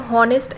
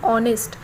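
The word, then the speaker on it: honest: देख सकते हो और उस वर्ड में जो है वह साइलेंट है हम होनेस्ट ऐसे नहीं पड़ते बल्कि हां ऑनेस्ट इस तरह पड़ते हैं और यहां भी उच्चारणों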